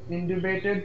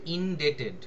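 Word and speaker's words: indebted: mister I am much ইন্ডিবেটেড টু ইউ for explaining ইনডেটেড উচ্চারণটা হবে ইনডেটেড date মানে হচ্ছে ধার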